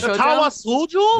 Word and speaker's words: Katawa Shoujo: How do you pronounce that one? The one that 4chan made. Katawa Shoujo?